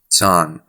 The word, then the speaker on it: san: San. Can you spell that for me? S-A-N. Okay, San. San. Like Daniel San.